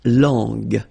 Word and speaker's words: langue: Okay, so you get to put this U between the two to get the sound G. So you get la langue.